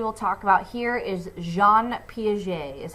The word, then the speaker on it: Jean Piaget: Cognitive development, and the guy we will talk about here is Jean Piaget, is how you say this name.